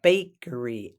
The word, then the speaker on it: bakery: go to the bakery the bakery emphasis on the first syllable the bakery is where